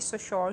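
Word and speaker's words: Saussure: ये है Ferdinand de सोशोर की. इसे फर्डिनेंड डी सोशर भी बोलते हैं, फर्डिनेंड डी सोशोर भी बोलते हैं.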